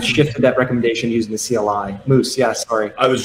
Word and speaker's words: CLI: also ever heard i've heard people pronounce it as clyde before have you heard that one no that's definitely not clyde yeah no all right it's cli yeah for sure uh very